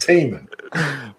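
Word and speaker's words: Tih Minh: It's pronounced Teeman. As in, that lake is teeming with salmon. That Louis Fusillade movie Teeman.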